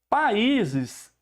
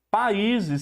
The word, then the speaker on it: países: Países, em tese, pela posição do acento, é uma paroxítona. No entanto, países segue um caso especial, que é uma regra especial, regra do hiato.